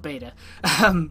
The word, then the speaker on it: beta: I mean, I played the beta, but that's how you pronounce beta in the UK. So yes, beta, not beta.